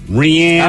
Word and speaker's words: Rihanna: Rihanna. Oh, Rihanna. Correct. It is Rihanna. Thank you, Miles. I will not say it. Only Miles cares on that one. I'm classy. I call her Rihanna.